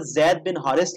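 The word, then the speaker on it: زيد بن حارثة: तो हजरत जैद बिन हारिस या हजरत जैद बिन हारसा, ये दोनों यानी प्रोनाउंसिएशन आती हैं, आप सल्लल्लाहु अलैहि वसल्लम के मुंह बोले बैठे थे।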